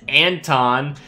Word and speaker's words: Anton: Alex nicknamed his Anton, pronounced Ant-on.